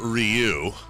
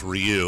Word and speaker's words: Ryu: fame for me is teaching me the proper way to pronounce Ryu after playing Street Fighter 2 all those years, and I always thought it was Ryu, like Ken and Ryu.